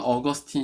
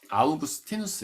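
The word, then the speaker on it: Augustinus: 쪽 교부 라고 하는데 영어로는 어거스틴 이라고 합니다 근데 저는 원래 발음이 아우구스티누스 에요 라틴어로 그러니까 그렇게 불러 들이는 게 맞다고 생각합니다 그래서 없는 어거스틴 이라고 알고 계셨지만 야우 그 스탠스 라고 바꾸시기 바래요 어쨌든 이 사람이 힙은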